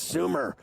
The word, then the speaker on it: Sumer: to Coffee I go I think it's Sumer cuz last year I butchered it I was like here's Thomas demitro from Summer Sports and you're like it's Su idiot and then your partner